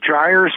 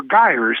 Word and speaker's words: gyres: So these circulations within each ocean basin, as I said, are called gyres or gyres. That's spelled Gyres.